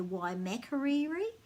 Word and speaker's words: Waimakariri: saying and a lot of people probably say waimakariri and then and for sofia it's called tamaki